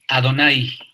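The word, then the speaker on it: Adonai: está también a adn y que pero se pronuncia como ado nay adonay qué significaría sr o también está a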